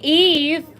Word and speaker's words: y: like where is why why in Spanish is pronounced e which means and I'm sure that's what